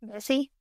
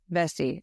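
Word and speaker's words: Vesey: name I don't want to say it wrong vessie vessie okay Southern okay so Denmark vessie a former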